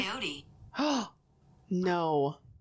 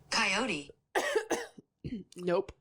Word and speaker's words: coyote: Well, The English pronunciation is heard both as a 2-syllable word with the final E silent and as 3 syllables with the final E pronounced, with a tendency for